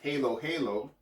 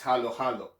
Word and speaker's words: halo-halo: you see a letter if you see letter a in a word you would sound a if you see o then you would sound o so this word is not pronounced halo halo but it's halo halo